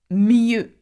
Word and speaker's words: mieux: Another word with the sound closed up is mieux. Mieux. And that means better. Again, we do not pronounce the X at the end of a French word, okay?